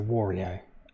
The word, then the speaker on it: Wario: know which pronunciation you guys go with so wario okay i did pronounce it right look that's how i think